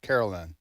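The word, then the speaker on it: Karoline: so it's but it's she pronounces it Caroline Carolyn I Carolyn I've heard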